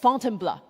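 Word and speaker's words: Fontainebleau: So after Paris, Paul took me just outside the city to a forest park for called Fountain Blur. This is how he taught me to pronounce to try out our mountain filter.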